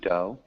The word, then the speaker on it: dough: So with a long O.